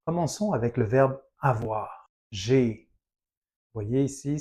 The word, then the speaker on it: j'ai: Vous voyez ici, c'est J apostrophe. AI, c'est le son et. Le verbe avoir. Et je, le pronom personnel, il y a une élision devant le A, la voyelle, et ça nous donne un son.